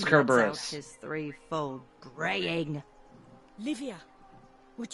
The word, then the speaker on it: Kerberos: It's pronounced and lets out Kerberos.